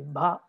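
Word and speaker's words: bhagavā: So in sagana, the ending syllable is heavy, like in bhagava. See, bhagava, ending syllable is heavy, it is sagana.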